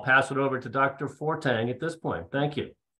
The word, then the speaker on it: Fortgang: I'm Fortgang is how it's actually pronounced, but all through my youth, Fortgang was my nickname because every year when the school year began and the teachers read the names, they always said Fortgang.